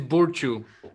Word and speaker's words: Burciu: Do I pronounce it that way? It's Burciu.